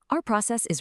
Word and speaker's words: 爱: Our very first character is this one. It's pronounced I. See that little mark above the A? That's called the falling tone. It's a sharp downward sound.